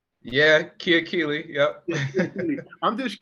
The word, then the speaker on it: Kiakili: Yeah, Kiakili.